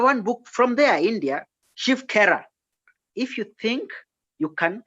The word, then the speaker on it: Shiv Khera: One book by Shiv Khera, very common book, very nice book. If You Think You Can Win. Shiv, the way I'm just pronouncing it, SHIVKHERA, Shiv Khera.